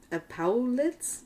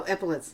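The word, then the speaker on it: epaulets: an official uniform a red tunic with EP epets I don't even know what that is epet oh epolets thank you thank you I just can't pronounce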